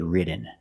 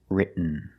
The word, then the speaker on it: written: written is more common just don't say written it's written let's look at some